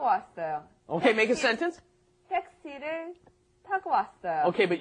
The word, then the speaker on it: 택시: 택시를 타고 왔어요. Okay, but your pronunciation's all wrong. It's not taxi. It's 택시. 택시.